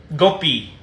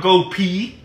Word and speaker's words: Gopi: my name is Gopi why are you pronouncing like Gopi it's Gopi not go pee hey guys check it